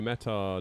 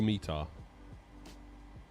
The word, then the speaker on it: METAR: David says it's pronounced meta. Meta or meter.